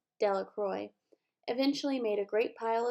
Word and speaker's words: Delacroix: and Harry Jones and Dicky Delacroix the villagers pronounced his name Delacroix eventually made a great pile of stones in